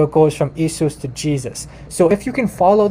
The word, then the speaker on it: Jesus: turn into German so in German though the the the J is actually a y so Jesus okay in German this is how you pronounce it Jesus uh well maybe not an identical pronunciation but I'm trying uh so so you have like that the why and it's it's it's a y sound and then in English